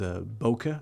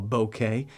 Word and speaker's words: bokeh: They often refer to this as bokeh or bokeh, depending how you pronounce it.